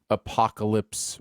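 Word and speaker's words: Apokolips: uh justice league dark apocalypse war yes it's called an apocalypse is not spelled like you would normally spell it it's a-p-o-k-o-l-i-p-s yes and for those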